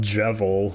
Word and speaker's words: Jevil: I know about Jevil, which rhymes with devil, and I know his theme song.